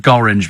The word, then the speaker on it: Gorringe: I've never heard of Gorringe before, but it doesn't rhyme with orange.